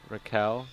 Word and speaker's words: Raquel: You don't pronounce the Q. It's okay. Raquel. So it's a Kel.